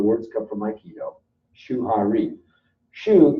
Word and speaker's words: shu: Shu, rhymes with shoe, means follow.